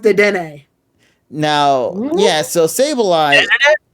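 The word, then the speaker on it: Dedenne: i'm so glad also zorro you're wrong it's pronounced de dene no yes so sable i i have no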